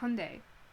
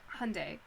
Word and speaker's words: Hyundai: In English, we call it Hyundai, but it's actually Hyundai, and I'm pretty sure it's Hyundai, technically. Like, it's a Korean car, and the way you would pronounce that is, like, Hyundai. But we just don't, for some reason, here.